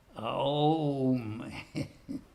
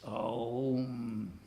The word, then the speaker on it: Aum: In other words, it's not really O as in the English O, it's Aum. In other words, it's a diphthong. It's not just a single sound, O, it's Aum.